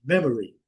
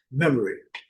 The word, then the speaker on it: memory: O inglês é uma palavra silábica de sílabas fotos, memory. Então, as as demais sílabas geralmente elas são quase eh eh imperceptíveis, elas são muito fracas no discurso, na fala em inglês. Memory, o O às vezes pode ser até suprimido. Memory, memory. Certo?